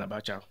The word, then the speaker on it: Abacha: one of our newscasters mispronounced the name of head of state, late President Abacha. You know, in Yoruba, if you take cha and you put sha, it means something else.